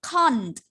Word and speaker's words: can't: Yes, Can't. A ya. A, kemudian ada T-nya. Again, can't. Can't.